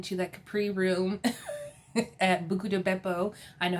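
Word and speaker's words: Buca di Beppo: I still have not been to that Capri room at Buco de Beppo.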